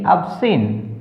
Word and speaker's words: obscene: SCEND असेंड, DESCEND descend, OBSCENE अबसिन, अब सीन। तो सभी में सी साइलेंट है, जब भी एस और सी इकट्ठे आगे सी का उच्चारण नहीं करना।